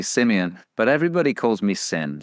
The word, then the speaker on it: Simeon: easy to mispronounce it so people say Simone or Simon it's actually Simeon but everybody calls me